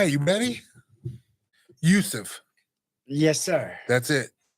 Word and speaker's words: Youssef: Youssef. Yes, sir. That's it. Youssef.